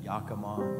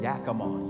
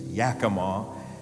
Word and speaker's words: Yakima: Bellevue the DuPont location at Yakama Yakima Yakima what's wrong with me I can't pronounce normal words right let alone city names Yakima and then of course